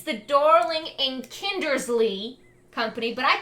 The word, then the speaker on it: Kindersley: So I mispronounced it in the first video because I've always been bad at pronouncing it. It's the Darling and Kindersley Company, but I call it the Darling Kinsley Company because it's faster to say it that way.